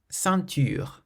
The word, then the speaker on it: ceinture: Ceinture, ceinture, So the nasal sound in this word is in the middle because the N is followed by a consonant.